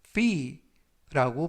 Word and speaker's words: fee: 이번 표현은 fee, 이 발음을 약간 길게 해서 fee라고 발음하시면 좋겠고요.